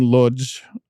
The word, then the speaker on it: Łódź: So they shot a lot in LA, a little bit of Paris, and a lot in Łódź, I think is how you say it.